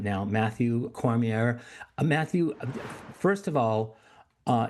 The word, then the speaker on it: Cormier: I want to bring my my wonderful guest on right now, Matthew Cormier. Matthew, first of all, uh tell me, am I pronouncing your name right? It's Cormier.